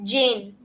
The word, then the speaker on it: Zan: audience um uh the it's actually not pronounced as Zen it's Jane okay Z and Jane Jane Jane okay and